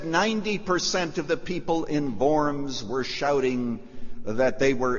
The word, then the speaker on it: Worms: word worms is is borums the W is pronounced like a V Luther goes there a hero it is was said that 90% of the people in borms were shouting that they